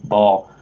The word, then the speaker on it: Baal: That's like correct how you pronounce the Canaan deity Baal, but I actually pronounce it bailout, like an economic bailout, bailing out the banks.